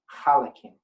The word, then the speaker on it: halakim: So they use the H, but it's actually chet. So in Hebrew, it's halakim. But some people will call it chelik, right? Because they take that guttural thing and put it